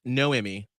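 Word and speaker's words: Noemi: to go for it it's pronounced no emmy like you didn't get an emmy ah oh no me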